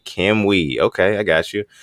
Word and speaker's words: Cam UI: This one coming in from Cam UI, pronounced Cam Wee. Cam Wee.